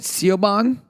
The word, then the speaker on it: Siobhan: There's, I hope I'm saying this right, Siobhan Williams. I'm saying it right. She actually plays Siobhan, which is kind of cool.